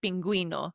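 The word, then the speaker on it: pingüino: So, the best example, friends, to remember is the word penguino. Exactly. Just remember the little cute penguin needs you to pronounce the U.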